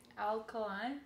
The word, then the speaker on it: Alkaline: Alkaline.